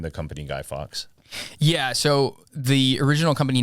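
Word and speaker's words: Fawkes: this guy named guy Fox was um it's spelled so guy Fox is a real person real guy but he spells it f a wkes do you know those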